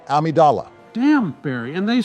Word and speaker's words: Amidala: with the political discussions were great too Queen amydala was fair and balanced as a leader as far as I'm concerned you had your amydala removed when we made the Metroid tier list it's pronounced Amidala damn Barry and they say I'm the one